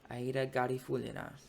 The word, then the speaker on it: Aida Garifullina: The point of saying all that was that vocal coach actually pronounced it that way in that reaction, and I remember from the announcement of that video he particularly pronounced it as Aida Garifullina, and so I'm gonna go with that. Let's begin in just a moment.